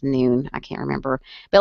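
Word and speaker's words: Nuun: I've done like these things called Nun tablets before, or they might be pronounced Noon.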